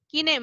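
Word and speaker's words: Kahn: গিয়ে আবার শাহরুখ খান আর আমির খানের মতো খান লিখে দিও না, ঠিক আছে? বুঝতে পেরেছো? এখানে কিন্তু খান না, কান, উচ্চারণটা ma'am. একটু আলাদা।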